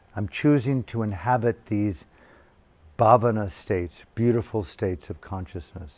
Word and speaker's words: Bhavana: How do you spell that? Sila? Sila, S-I-L-A, Sila. And the last is Bhavana.